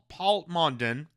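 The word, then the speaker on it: Plamondon: Pierre Palmondon.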